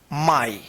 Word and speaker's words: my: आई देखेंगे यहां पे, जैसे एम वाई, इसको क्या पढ़ेंगे, माई। एम वाई क्या पढ़ते हैं, इसको माई पढ़ते हैं, एम वाई माई।